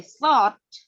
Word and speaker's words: thought: I thought ya. Jadi ini tuh dibacanya kayak shot tapi sa-nya s-nya itu sa ya.